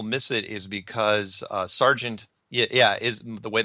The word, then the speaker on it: Sargent: people miss it is because strange is one syllable and Sergeant is two and most people completely